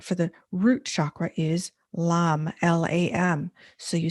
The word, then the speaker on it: Lam: Lam.